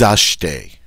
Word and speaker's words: achetez: We can throw the T onto that, and it doesn't sound bad. Vous achetez.